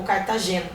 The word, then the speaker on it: Cartagena: E na região da Colômbia, em Cartagena, ou Cartagena, conforme alguns pronunciam também.